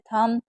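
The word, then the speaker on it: thumb: अगर कभी भी एम और बी साथ में होगा तो मैंने बताया कि बी साइलेंट रहता है।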